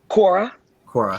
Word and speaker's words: Quara: is quo how do you say it again quora q yeah q-u-a-r-a um if you'd want to